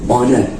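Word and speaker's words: honour: है शायरी ठीक है साइलेंट लेटर का रूल क्या कहता है की जब कभी भी ओ से पहले ह का प्रयोग होता हो तो आपका ह साइलेंट लीडर होगा ठीक है यानी ह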